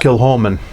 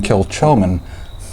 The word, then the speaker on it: Kilchoman: Yeah, and it's pronounced Kilchoman. Yes. Yeah, you see it, and it looks like you ought to be saying Kilchoman. Yeah, those Scots like to put in extra vowels and make words sound nothing like they're spelled.